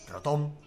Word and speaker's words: Rotom: Voy a decir Rotom porque la forma de acentuar en español sería Rotom, si no tiene acento en la O.